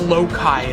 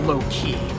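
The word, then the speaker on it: Loki: his name is pronounced lokai and not low-key despite how his name is spelled I know he's not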